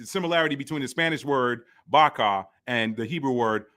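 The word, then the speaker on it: vaca: I didn't take Spanish long okay it says Baka that's correct that's correct it's pronounced Baka which is actually the Hebrew word for a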